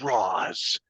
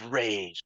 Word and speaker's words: Ra's: I've heard it both ways, but um, there's literally cults out there who are just like, it's Roz, and then there's people like, it's Rage.